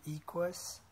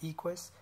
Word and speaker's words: Equus: This is an Equus. I think that's how you say it, Equus tachometer.